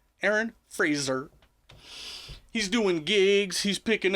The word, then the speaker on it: Frazer: sure to pronounce that it's not Aaron Frazer, it's Aaron Frazer. Aaron Frazer.